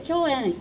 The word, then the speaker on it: 響宴: りました響く宴と書いて共演と申します。